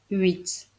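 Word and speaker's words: huit: la réponse première question quel est le seul chiffre avec une lettre muette en début de mot la réponse est 8 avec un h muet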